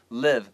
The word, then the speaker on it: live: 嗯，没错，在这里的话，那个 where the cockroaches live, 你要特别标注一下 live 这个字的发音哦。它这个地方 eye 的部分是 live, 短母音的 e, live, live。